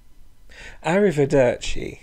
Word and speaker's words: arrivederci: see for a while arrivederci is another Italian loan word but remember you don't need to put on an italian accent to say it so what words have